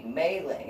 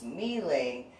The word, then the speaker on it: MeeLing: to call you because it should be mailing and no it's not supposed to be mailing that is the meandering way to spell it what you're discussing my name is kneeling it is Cantonese which it is different